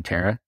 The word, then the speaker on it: Tarah: And I just realized I haven't seen your name wrong the entire time. It's actually Tara.